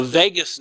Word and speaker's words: vagus: The vagus nerve, V-A-G-U-S, so not like Las Vegas, but V-A-G-U-S, but pronounced the same way.